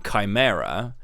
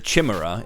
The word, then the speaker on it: chimera: when I say um rather than saying Chimera calling it The Chima is always fun to me but people are always